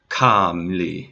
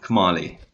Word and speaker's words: Kmali: Kamli. No, Kmali.